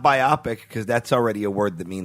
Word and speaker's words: biopic: I'm strongly in the camp that it's biopic and not biopic. Where do you stand? Yeah. Biographical picture. I think biopic sounds really clunky. Yeah, but it's not biopic because that's already a